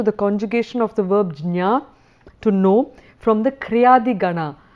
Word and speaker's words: jñā: it pronounced as the gyā, but because the jñā is a combination of j and ñ, I would tend to prefer the pronunciation of jñā.